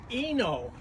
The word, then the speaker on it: Inno: This is a 1-bike rack, and it's pronounced Inno, I-N-N-O, and it's the same basic kind of a rack.